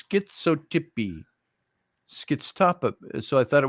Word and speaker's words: schizotypy: Oh, schizotypy.